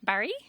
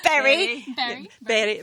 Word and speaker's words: Bury: We are here in Barry. Or Berry. Bury is how I would... Right, we're all pronouncing it in different ways. Anyway, Bury.